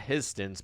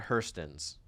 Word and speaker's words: Hurston's: Not Histons, but Hurston's.